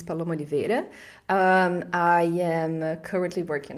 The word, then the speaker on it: Paloma Oliveira: show yay uh so with my pronunciation my name is Paulo monivere um I am currently